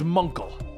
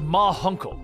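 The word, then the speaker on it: Ma Hunkel: her that it was munkel the guardian suddenly appears at around the corner the aging members of the justice society of america step into view it's pronounced ma huncle she was the guardian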